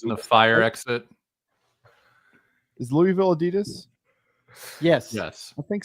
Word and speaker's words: Louisville: Louisville, pronounced by the locals as Louisville.